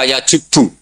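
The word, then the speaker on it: يجبّ: Itu bacanya bukan yajibu tapi apa?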